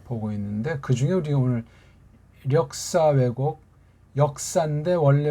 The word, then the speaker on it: 력사: 있는데 그중에 우리 오늘 력사 외곡 역사인데 원래 우리 본디 발음하면 력이 해야 되죠 그렇죠 역사 외곡 왜곡은